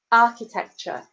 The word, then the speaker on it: architecture: you'll see your example underneath which is architecture architecture now you'll notice you put the stress on